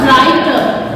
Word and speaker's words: writer: like R से पहले W आकर this is pronounced writer, writer, rest, right, etc.